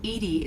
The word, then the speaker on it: EDI: are you named edie edie is the phonetic pronunciation of edi that is an acronym for enhanced defense intelligence right right um what's